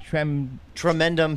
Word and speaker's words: Tremendum: How do you pronounce it? Tremendum Pictures. Tremendum Pictures, Yes.